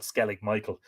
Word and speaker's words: Skellig Michael: the baron rock called skellig michel or skellig michiel well it's m-i-c-h-i-l but we would call it skellig michael skellig nickel or michael's